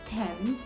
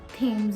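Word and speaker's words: Thames: the square trafala square River THS and not thems river but River THS and the best one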